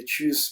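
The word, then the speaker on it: Tschüss: मगर चूंकि इसके ऊपर उमलाउट है इसलिए हम थोड़ा सा नीचे की तरफ आवाज़ को स्लाइड करेंगे, तो ये बन जाएगा चूस, चूस। चुस नहीं आपने कहना, चुस जो है इसकी रॉन्ग प्रोनाउंसिएशन है। चूस थोड़ा सा नीचे से आपने स्लाइड करना है, चूस यानी कि अलविदा।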